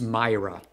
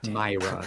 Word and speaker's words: Moira: Patrick I'm sorry Patrick it's it's Myra oh God Myra that's how you pronounce it Moira Moira McTaggart this